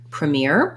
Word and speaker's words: premiere: start with that word premier has second syllable stress and what's challenging here is we have multiple r's in this word also it looks like the first syllable should sound like pre premier and really in connected speech this syllable is unstressed and so it's going to instead of having an e sound it's going to have an sound in the dictionary it